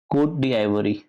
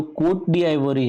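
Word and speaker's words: Côte d'Ivoire: अब इसके बाद इसका एक पड़ोसी है जिसे हम कहते हैं कोट डी आइवरी, ठीक है।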